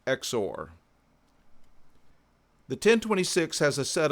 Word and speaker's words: XOR: as exclusive or logic written x o r and pronounced exor the 1026 has a